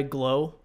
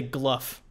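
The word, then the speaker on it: Glough: I think I say Gluff too because like tough. Yeah, tough, rough, Gluff.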